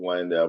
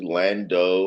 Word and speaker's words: Landau: I always told them it was Landau, but they never would. They didn't know how to say it, I guess, because most people say Lando or Landu. Yeah. And I I was was, like, it's Landau.